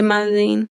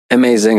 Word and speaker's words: MaZing: there a meaning to maing it's spelled like amazing but without the a right so so the